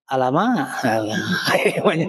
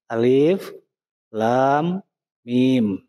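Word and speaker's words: الم: yang terputus-putus atau dipisah-pisah Jadi dibacanya bukan Alama Nah lagamnya jadi gitu tapi murni huruf hijaiah alif Lam Mim kemudian di sini ada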